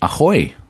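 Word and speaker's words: ahoj: But, um, to say hello in Slovakian is to say aoy. So, it's spelled a H O J, but it is spoken like a pirate.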